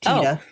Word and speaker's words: Tiede: So his last name is spelled Tiede, but it's pronounced Tiede.